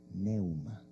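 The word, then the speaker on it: πνεῦμα: En griego se dice neuma. Neuma.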